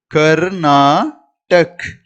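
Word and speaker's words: कर्नाटक: அப்ப கர்நாடக், கர்நாடக் அப்படின்னு சொல்லணும் ஹிந்தியில. கர்நாடக் அப்படின்னு நீங்க ஹிந்தியில உச்சரிக்கணும். உங்களுக்கும் இன்னும் ஈஸியா ஹிந்தி கத்துக்கணும்னு ஆசைப்படுறீங்களா?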